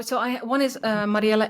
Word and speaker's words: Mariëlle: NL right yes and uh what is your uh your Instagram oh so I one is uh Mariela s yeah that's how you pronounce my name in Dutch uh my first name